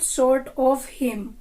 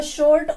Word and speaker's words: sorta: हूं, आई एम नॉट शॉर्ट ऑफ हिम। तो शॉर्ट ऑफ से बन जाता है शोर्टा, SORTA, शोर्टा। और शोर्टा को हम कैसे यूज करेंगे?